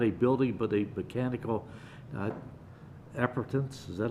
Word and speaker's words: appurtenance: building but a mechanical appurtenance. Is that how you pronounce it? Appurtenance. Appurtenance, okay. Long U, okay.